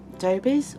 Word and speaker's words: Dobies: I order from Dobies or Dobbies, however you would like to pronounce it. We was brought up with calling it Dobies, something that my granddad used to use and my mum used to use, and my mum still does use.